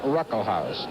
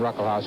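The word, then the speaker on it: Ruckelshaus: second term is running behind the Republican William Ruckle House. The uh first S in his name is pronounced it's silent. William Ruckle House who's the majority leader.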